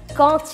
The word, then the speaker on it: quand: En règle générale, on ne prononce pas la consonne finale de quand avec D.